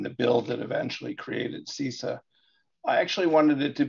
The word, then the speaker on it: CISA: And Jim, I love you, man, but it's pronounced CISA.